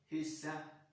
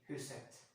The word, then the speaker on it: huset: En hund, hunden, et hus, huset. Well, we don't pronounce the T here. We will say et hus and huset, but we don't say huset. So, yes, in this case, we will have huset, the house, and fjelle, the mountain.